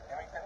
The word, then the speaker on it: Effingham: It's about to cross into Um I think I'm pronouncing this town right. Is it Effingham? Effingham, Illinois.